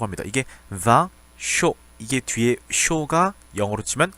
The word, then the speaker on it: vin chaud: 자, 우리말 표기를 할 때는 이상하게 이걸 자꾸 뱅쇼라고 쓰는데 프랑스어 발음상으로는 vin이 맞습니다. vin chaud 이렇게 쓰게 되죠.